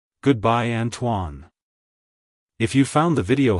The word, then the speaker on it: Antoine: to pronounce it correctly emphasize that TW sound and soften the uh in the first syllable also stress the N at the end like hello Antoine goodbye Antoine if you found the